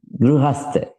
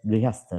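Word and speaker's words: गृहस्थ: Gruhastha. Okay. Yeah. So Sanskrit pronunciation in both countries are different. So, Gruhastha. Right. But in India, it is called as Grihastha, right?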